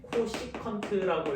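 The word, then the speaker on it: cosecant: csc 세타라졌고 읽을 때는 코시컨트라고 읽어요.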